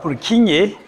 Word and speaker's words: Purkinje: bulking kind of neurons this one you know you will see is j what is pronounced as ye so it's not plucking g it's broken fibers are you clear so we have purkinje you hear my point